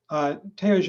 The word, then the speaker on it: Theogene: Theogene, and I hope I'm pronouncing your name correctly, is a student at Harvard Medical School. Theogene : That's the right way to pronounce my name.